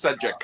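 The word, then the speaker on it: Šejić: Yeah, no, it's Sejic.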